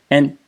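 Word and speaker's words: 案: So again, this entire character means table, case, or file is pronounced an.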